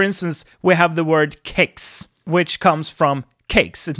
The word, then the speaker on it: kex: So, for instance, we have the word kex, which comes from cakes. It means cracker or cookie, and in Eastern Sweden we say kex with a hard K, but in Western Sweden we say kex with a more Swedish pronunciation, if you so will.